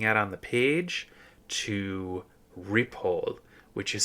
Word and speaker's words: Ripoll: what I'm looking at on the page to rile, which is spelled R I P O L.